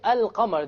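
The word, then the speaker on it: القمر: However, when I say al-qamar, the Arabic word for moon, can you hear the lam?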